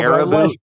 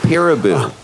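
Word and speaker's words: Perabo: I thought it was Peeraboo. Peeraboo. Peeraboo. It's like peekaboo.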